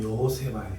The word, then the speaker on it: 여호세바: 자, 그리고 재밌는 게, 이 사실 우리 성경 개정에 여호사밧이라고 번역해 놨지만 원래 이름이 발음대로 하면 여호세바예요. 여호세바.